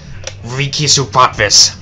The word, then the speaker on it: Ríkisútvarpið: So what's it pronounced again? Ríkisútvarpið.